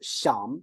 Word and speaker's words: 想: So actually we borrowed the pronunciation of the top one, but we changed its turn, right?